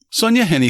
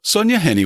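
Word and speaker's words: Sonja Henie: unfamiliar names and words Hint it rhymes with Penny not shiny so on the night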